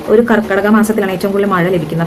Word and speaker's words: കർക്കടകം: നമസ്തേ അപ്പൊ കർക്കിടക മാസം ആരംഭമായി കർക്കിടകം തെറ്റല്ലേ കർക്കിടകം അല്ല കർക്കിടകം എന്നാണ് അതിന്റെ ശരിയായ ഉച്ചാരണ രീതി അപ്പൊ ഇത് എന്നെപ്പോലെ തെറ്റിച്ച് കർക്കിടകം എന്ന്